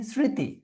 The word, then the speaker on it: স্মৃতি: স্মৃতিতে কি মফলা উচ্চারিত হচ্ছে? তোমরা বলতো না। উচ্চারণ হচ্ছে না।